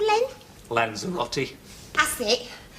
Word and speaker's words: Lanzarote: Oh, I can never pronounce it. What's it called, Len? Lanzarote. That's it. Lanzarote.